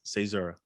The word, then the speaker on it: caesura: it properly man uh cesaro everybody everybody gets it wrong so it's all right say zara what does that mean